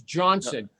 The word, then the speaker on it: Jonsson: and it's Jonsson, Jonsson.